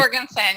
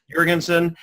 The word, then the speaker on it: Jorgensen: Is it Jorgensen? Is that the right pronunciation? Jorgensen, yeah. Jorgensen.